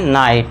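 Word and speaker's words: night: नाइट एन आई जी एच टी जी H silent और इसे हम पढ़ेंगे नाइट नाइट।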